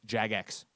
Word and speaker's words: Jagex: of funny calm slash wrong it says it's pronounced jagex the company behind roof scape that the browser-based